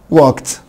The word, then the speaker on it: walked: walk, walked, walk, walked. طبعا اللي فوق بعد الكه ساوند واللي تحت بعد الكه ساوند الاي دي هنطقها تي.